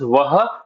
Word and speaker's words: वह: Again, this is written as वह, but we do not pronounce the ह. We just simply say वो.